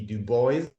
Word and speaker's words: Du Bois: about today um so i use the english pronunciation for that name which is w.e.b dubois dormit i'm pretty pleased